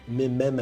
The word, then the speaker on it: meme: from the Greek word Meme and the guy who coined it he was looking for a monosyllable that sounded a bit like Gene so he was trying